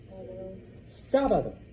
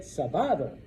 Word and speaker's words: sábado: Now, some students, very first time they see it, sábado. Because once again, that's the natural pattern, all right? It ends in a vowel, second to last syllable. But the word sábado breaks the rule, so we put an accent mark on the A, so now you know